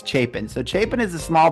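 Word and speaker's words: Chapin: and so much more chapen and it is pronounced chapen right people always ask me chapen chapen it's chapen so chapen is a small town right up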